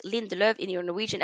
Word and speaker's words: Lindelöf: Right, so Sofia, love the way you pronounce Lindelöf in your Norwegian accent.